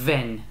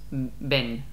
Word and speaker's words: ven: Y un tip, en español, la V se pronuncia como la B. La B. No es ven, ¿vale? Es ven.